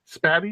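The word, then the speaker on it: Spatie: How do you pronounce that? S-P-A-T-I-E. Yeah, right. Spatty.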